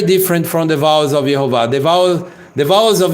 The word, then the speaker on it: Yehovah: So the vowels here, very different from the vowels of Yehovah. The vowels of Yehovah are not the same vowels of Adonai.